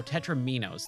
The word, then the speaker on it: tetromino: Tetris pieces are actually called they Tetra no tetraminos that's how you pronounce it I've always had a really hard